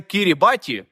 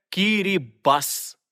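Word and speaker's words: Kiribati: країна в Тихому океані Як ви її прочитаєте скажете Кірі баті але насправді це Кірі бас і можна заперечити Ну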